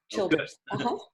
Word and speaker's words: Childers: Ann Childers, and I hope I'm pronouncing your name correctly. You are, Childers.